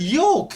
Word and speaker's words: yolk: The L is silent. Yolk.